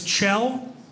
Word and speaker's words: Kjell: here we go my name is CH it's ch it's Norwegian spelled k j l l pronounced CH yeah I know that's not even